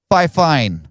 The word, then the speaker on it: FIFINE: And according to Scott, it's pronounced fifine.